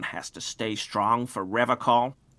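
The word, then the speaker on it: Revachol: tempted on occasion, but someone has to stay strong for Revocol. He pronounces Revocol with a hard K.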